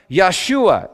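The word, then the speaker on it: ישועה: Hebrew salvation is pronounced yahshua in this verse which sounds just like the name Yeshua which literally means god is salvation in English you know it's pronounced Jesus Isaiah 52 7.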